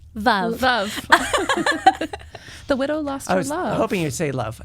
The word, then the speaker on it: Veuve: and realizing that it you know it rhymes with love which actually ties back